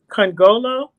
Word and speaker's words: Nkongolo: try your name again congolo you got it that was perfect okay okay the end is silent everybody latoya congolo she's